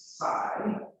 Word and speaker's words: psi: the symbol side so this is pronounced psi it's a greek letter and this is what